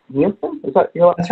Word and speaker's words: Nielsen: Nielsen? Is that your? That's right. That's how you spell it. Do what now? Yep, that's right, Nielsen. Okay, cool. Sorry. I mispronounced one person's name one time, and I've been paranoid ever since.